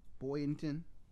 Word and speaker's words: Boynton: Bynton. Boynton. Bradenton? Boynton. Oh, not Florida. You're talking about somewhere else? No, down South Florida. Oh, they moved to. Yeah, they were moving from Jersey. Boynton Beach.